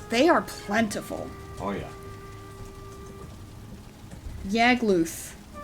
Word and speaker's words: Yagluth: Yagluth. Like, loose with a lisp. Maybe Yagluth, rhyming with Smogtooth.